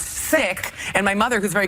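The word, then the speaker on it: Cikk: it's funny that my family changed my last name when I was in the 3rd grade because my original last name was C-I-K-K, which everyone pronounced Sick.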